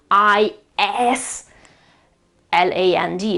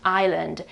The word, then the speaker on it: island: I S L A N D of course, but that S is silent. Of course, we pronounce it island.